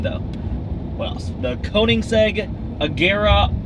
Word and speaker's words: Koenigsegg: The Koenigsegg Agera R.